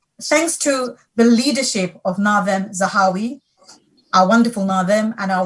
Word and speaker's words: Nadhim Zahawi: So without Nadeem, or actually the pronunciation of our minister's name is Nadhim Zahawi, who is an Iraqi-born